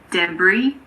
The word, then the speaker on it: debris: Unfortunately, there aren't really any rules here, but luckily there aren't that many words that have a silent S. Some of the most common ones are aisle, bourgeois, debris, island, and aisle.